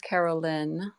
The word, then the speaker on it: Carolyn: It's actually pronounced Carolyn. That's not uncommon, but anyway.